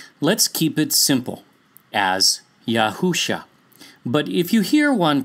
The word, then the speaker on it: Yahusha: The next letter is Shin, which has an SH sound, even in modern Hebrew for that matter.